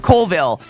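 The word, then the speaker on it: Colville: Here's the right way to pronounce Kville. Kovville, but it's spelled C O L V I L L E.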